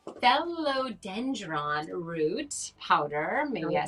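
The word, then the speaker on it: Phellodendron: other the other one so we have the felon dr okay i'm going to say it right fellow dendron root powder maybe i said it right yeah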